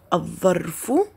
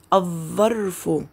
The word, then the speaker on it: الظرف: أحسنتم، إنها لام شمسية، تكتب ولا تلفظ. لاحظوا الكلمات مرة أخرى، الظرف لم نلفظ اللام، الظلام لم نلفظ اللام، الظبي لم نلفظ اللام.